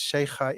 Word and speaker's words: Sheikha: next to Her Highness Sheikha Intisar Salem Al-Ali Al-Sabah. That was a fantastic pronunciation. I like the kha, the fact that you can pronounce that.